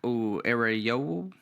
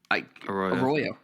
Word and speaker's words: Arroyo: Elijah Arayo out of Miami. I thought it was is it not Arroyo? Arroyo. Great. I just mispronounced it.